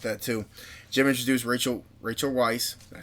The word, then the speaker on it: Weisz: Jim introduced Rachel Weisz.